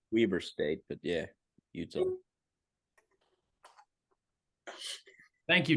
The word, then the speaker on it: Weber: It's pronounced Weber State, but yeah, Utah.